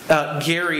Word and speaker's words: Gerry: Gary is how you pronounce his last name, and you see his pedigree there, one of our founding fathers.